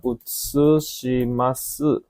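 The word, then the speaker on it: 写します: Terus yang nomor 3 ini bacanya utsushimasu.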